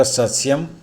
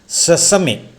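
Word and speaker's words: sesame: എന്നും പറയാം എരുക്ക് വർഗ്ഗ സസ്യം റൂബിയ ഇതിൻറെ പൂവിന് ക്രൗൺ ഫ്ലവർ എന്ന് പറയുന്നു എള്ള് പ്രത്യേകം ശ്രദ്ധിക്കുക ഈ വാക്കും ഇതിൻറെ ഉച്ചാരണവും സെസമി നമ്മളൊക്കെ പഠിച്ചിട്ടുള്ളത് സെസം എന്നാണ് ഓപ്പൺ സെസം ഷട് സെസം എന്ന് തെറ്റാണ് സെസമി ഏലം കാർഡമം ഏഴിലംപാല ഡിറ്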